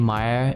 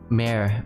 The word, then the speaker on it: Meyer: Actually, the name Meyer is pronounced Meyer. Meyer. Meyer. But people read it Mare all the time.